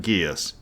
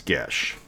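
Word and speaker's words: geas: it's spelled g-e-a-s but it's irish which means it never sounds like the way it's spelled so so a little bit of trivia g-e-a-s is not ghias it's gesh it was probably pronounced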